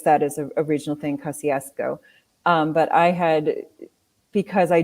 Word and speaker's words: Kościuszko: and saw the statue and I heard somebody pronounce it kosciasco and somebody came up to me and I guess that is a original thing kosciasco but I had because I do in my